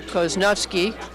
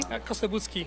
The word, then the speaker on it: Kosobucki: here, us here, Peter Koznovsky. Did I pronounce that correctly? Kosobucki. Kosobucki, forgive me.